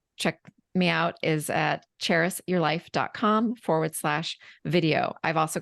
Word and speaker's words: Charis: spelling it is the the trick is to think of the city Paris but with a CH cheris and so my website